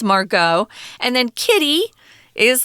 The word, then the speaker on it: Margot: they've got interesting names Margot is a French name that's why you don't hear the T don't say Margaret no it's Margot and then Kitty is